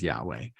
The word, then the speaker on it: Yahweh: reveals the second name which Scholars pronounce as Yahweh but literally it's four consonants uh without any vowel so you can't pronounce